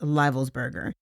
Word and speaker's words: Livelsberger: Army Master Sergeant by the name of Matthew Livelsberger, and I've also heard it pronounced Livelsberger.